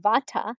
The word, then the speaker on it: Vata: element so Vata DOA the first one in the west we pronounce it Vata a Vata person is